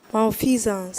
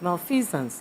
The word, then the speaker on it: malfeasance: Can you pronounce the word? Malfeasance. Excellent. Malfeasance.